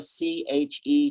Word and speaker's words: Che: Che, spelled like Che Guevara, C-H-E, Che, which in Chinese may mean rock, ground.